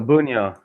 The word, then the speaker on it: Bunjo: I I knew like your last name was bonjo but yeah yeah so bunyo yeah and so it'd be buno but